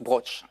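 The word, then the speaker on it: brocciu: Et encore, on prononce broch. Il n'y a pas I-U à la fin, je crois.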